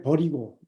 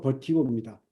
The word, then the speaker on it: vertigo: 그래서 미국 발음으로 이제 버리고, 버리고, T를 이제 묵음으로 해서 버리고로 하는데, 영국식 발음은 또 버티고입니다. 그리고 한국식 발음도 버티고입니다.